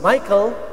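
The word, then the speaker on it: Michal: of David Eto na Michael though m i c a Ano po ang kanyang spelling but it pronounce as Michael yung anak ni Saul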